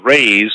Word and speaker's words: Re: emit beams from radius, ray, from whence they get the word ray, as in sun rays. This was taken from Re, R-E, which is properly pronounced Ray, written in hieratic, which